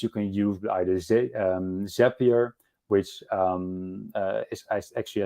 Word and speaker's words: Zapier: can use with either Zapier, which is actually, I think, pronounced Zapier, not Zapier, because Zapier makes you happier.